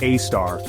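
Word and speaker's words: A*: AI front algorithms like a asterisk pronounced AAR come into play this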